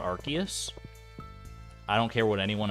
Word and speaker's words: Arceus: definitely didn't all I know is that it's pronounced Arceus not Arceus I don't care what anyone else says I